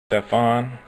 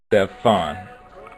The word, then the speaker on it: Stephon: Stephon. Just in case you don't know that the PH is pronounced like a F. Stephon.